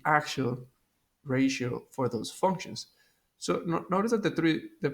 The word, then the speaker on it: SOH: So notice that the first three letters is spelled SOH, which is so.